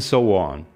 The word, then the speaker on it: so on: "so on" che si pronuncia come "Sowon") che è una mia amica coreana approfitto per salutarla: ciao Sowon!